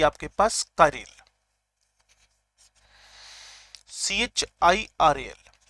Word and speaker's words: chiral: आती है आपके पास कारेल, CHIRAL। प्रोनाउंसिएशन आपके पास ये रहेगा कारेल का, गूगल सर्च कर लें आपको पता चल जाएगा कैसे प्रोनाउंसिएट करते हैं इसको। टर्म है कारेल।